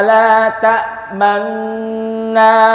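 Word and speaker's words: تأمنا: Ini aslinya la ta'manuna. Tapi karena Rasulullah bacanya langsung la ta'manna, ya udah seperti ini.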